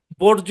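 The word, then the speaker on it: bourgeois: কারণ এটা শব্দ ভাই অন্য দেশ থেকে আসছে, অন্য দেশে ওইভাবে দেখেন, এই শব্দটা অন্য দেশে বর্জ্য উচ্চারণ করা হয়তো, হুবহু ওই উচ্চারণ ওই বানান নিয়েই ঢুকছে। মানে যখন ইংলিশে ঢুকছে, তখন না ওই বর্জোয়ারে মানে বাদ দিয়া ইংলিশের অনুযায়ী উচ্চারণটাকে সেট করা হয় নাই। মানে বানানো ঢুকছে, উচ্চারণও ঢুকছে, এই হচ্ছে কারণ আর কি, বর্জোয়া।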